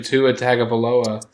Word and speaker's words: Tua Tagovailoa: and I threw the name out of Tuna Altoona, to which Nasta just pronounced, oh yeah, the Alabama quarterback, whose name is actually Tua Tagovailoa.